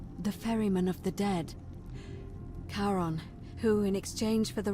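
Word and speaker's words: Charon: as you described it only your pronunciation is a little off the name you heard wasn't karen it was c-h-a-r-o-n as in caron the ferryman of the dead karon who in exchange for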